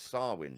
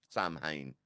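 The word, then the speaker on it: Samhain: um so so yeah swin apparently s so we we would look at as Sam ha how would you even get swin from well this is what I mean it's like the Irish way of of like spelling and saying something is is very very different than our interpretation in English isn't it yeah so apologies it's swin swin Sam Hayne Sam ha yeah that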